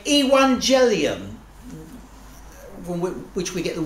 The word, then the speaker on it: Evangelium: and they would say, Evangelium, from which we get the word evangelist. I won't go into boring details while we pronounce it with a W, not a V.